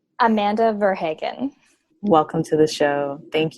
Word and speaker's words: Verhagen: up your last name it's okay everybody does even me Verhagen but I go over to Holland and they tell me I pronounced it wrong so that's okay I love it mark what is French actually in origin and so I've had like French people and Haitian people tell me that I pronounce my name wrong and I might well